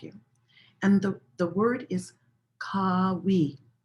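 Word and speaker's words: Qawi: And the word is Kawi. Kawi. It's spelled or transliterated Q-A-W-I, but you could think of it almost like, K-A-W-E-E, Kawi.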